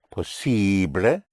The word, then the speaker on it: posible: Because IBLE in Spanish is pronounced ible, because the letter I in Spanish is always pronounced I. And ABLE in Spanish is pronounced able, because the letter A in Spanish is always pronounced A.